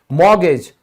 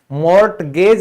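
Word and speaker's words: mortgage: कहते हैं, मॉर्गेज, तो यहां पर भी मॉर्टगेज नहीं होगा क्योंकि टी साइलेंट होता है।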